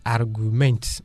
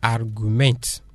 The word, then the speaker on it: Argument: C'est pas argument, on dit argument.